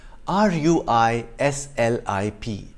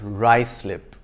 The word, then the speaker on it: Ruislip: not happensberg but haysborough five it's not ruislip but rye slip if you know of